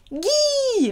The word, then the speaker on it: gui: Mistletoe, we're going to kiss Guy, le Guy. Hard G sound, le Guy.